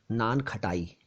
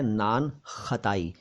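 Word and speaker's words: नानख़ताई: लेकिन ये भी हमारे कुछ साथी समझ गए होंगे कि खटाई का इसमें कोई रोल नहीं है, कोई रोल नहीं है खटाई का। ये शब्द असल में है नान खताई, खताई, खताई। ये वही खता है जो जिसका अर्थ गलती होता है, लेकिन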